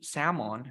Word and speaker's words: salmon: and you always use salmon you don't pronounce the the else salmon of course and repeat